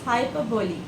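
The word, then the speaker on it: hyperbole: पी ई आर बी ओ एल इ इट्स हाइपरबोली she read it she read it नो यू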